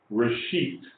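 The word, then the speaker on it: ראשית: Reshit means, this is resh. It's, you know, stands for our letter R. It's pronounced reshit.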